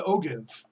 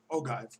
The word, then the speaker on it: ogive: rockets and it is it's the ogive ogive ogin people pronounce it differently but here's where you